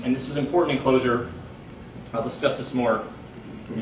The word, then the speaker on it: Clojure: understand it so okay so closure with the j they're all pronounced the same too right okay so closure